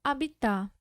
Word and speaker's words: habitar: Quando a gente lê só habitar. A gente lê só herói. A gente lê só homem, como se não houvesse a letra H.